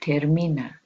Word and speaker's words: termina: will use the word termina sounds like the word in english terminate so now let's look